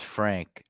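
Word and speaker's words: Franz: practice so yeah Avant his name is spelled France but France in German is Frank just like maritz is maritz but they call him Mo yeah Kurt's asking another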